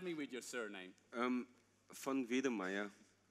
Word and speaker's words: von Wedemeyer: with your surname um fun V Maya fun V all right vid May vid okay don't say w Wonder Meer it's not correct but excellent so CL